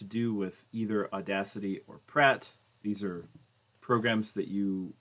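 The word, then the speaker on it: Praat: Pratt, which is actually pronounced Prat because it's Dutch. But you know what? I'm not Dutch. I'm going to say Pratt.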